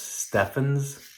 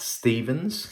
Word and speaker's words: Stephan's: to the 40's and I think it's pronounced Stefan's standard and not Stephens so if you're familiar